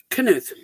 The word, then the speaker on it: Knuth: Knuth. See, I knew it was Knuth. I kept saying that, and somebody said that was wrong, and I was like, That's no. fine. It's the Scandinavian pronunciation, and that throws people off.